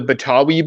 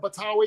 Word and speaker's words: Betawi: I used to be the Betawi blood, which is like Betawi's the term for someone from Jakarta.